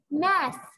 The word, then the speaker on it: math: th انطقوا ذا. math.